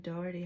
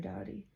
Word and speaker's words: Doughty: I think Aaron Doherty has one. I'm saying his last name wrong. Aaron Doughty.